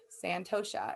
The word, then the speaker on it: santosha: it's in the pronunciation it said to pronounce the h so santosha it means contentment acceptance